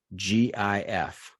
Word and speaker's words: GIF: How do you pronounce the acronym? Proper noun? I don't know what it is. GIF. GIF. It's not GIF. I always say GIF.